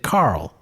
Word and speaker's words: Carol: his wife's name was Carol but his Canadian accent he produc pronounced it Carl and so for quite